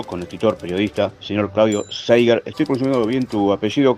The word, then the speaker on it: Zeiger: escritor periodista señor Claudio zaiger estoy consumiéndolo bien tu apellido Claudio Bienvenido a criminal Mambo Hola cómo estás yo pronuncio seher pero mi apellido es